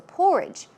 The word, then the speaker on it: porridge: So porridge, stress goes on the first syllable, and some other words are gruel or even pottage, okay?